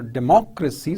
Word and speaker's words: democracy: For example, when you talk about aristocracy or democracy, so you see the stress on the second level, on the second syllable, right?